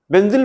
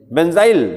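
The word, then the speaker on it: benzyl: दीजिए नाम लिखिए बेंजिल बेंजिल बोलेले या बेंजाइल दोनों एक ही चीज होती है स्पेलिंग सेम रहेगी बी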